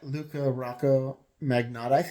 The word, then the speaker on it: Luka Rocco Magnotta: I promise to make a video about that Luca Rocco magnetic is how you pronounce his name because like I mean I